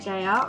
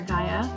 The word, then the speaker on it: Gaia: In terms of a name for this sim, I decided to name her Gaia, or Gaia, whichever way you prefer to pronounce it, which is a